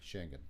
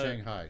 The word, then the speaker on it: Schengen: Schengen. Yeah, that thing. Not Shanghai, Schengen.